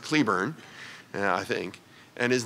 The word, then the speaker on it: Cleburne: by the way but as the name of a town in Texas it's pronounced Cleburne and I think and is the name of a general and Confederate Army was pronounced Clayburn and even though it's